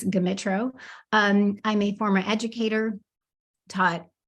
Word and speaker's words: Gmitro: It's Gmitro, and some people don't know whether the G or the M is silent. It's not. It's Gmitro.